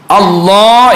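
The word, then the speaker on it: الله: എളുപ്പമായ മാർഗം പറഞ്ഞു തന്നു അള്ളാ എന്നുള്ളത് അല്ലാ എന്ന് പറയുന്നതിന്റെ അതേ സ്ഥലത്ത് വെച്ചുകൊണ്ട് പറയുക അപ്പൊ നാവ് ഒന്ന് വളച്ചു കൊടുക്കുക നാവിന്റെ നടുഭാഗം അങ്ങനെയാകുമ്പോൾ നമുക്ക് അതിന്റെ ശരിയായ ഉച്ചാരണം കിട്ടും അതിന്റെ മുമ്പ് കസർ ആയപ്പോൾ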